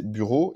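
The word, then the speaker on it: Büro: plus ils ont vraiment, le U tréma ça se prononce comme le U français, donc c'est bureau, ils l'ont vraiment pris du français, c'est en fait c'est l'influence de l'allemand des nobles.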